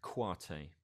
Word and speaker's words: Koité: from mali uh called habib kwatei okay i'll spell that second name it's k-o-i-t-e khabib quartet is the guitarist and